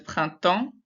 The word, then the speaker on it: printemps: In printemps, we don't say the P or the S because that doesn't sound like printemps. There's printemps.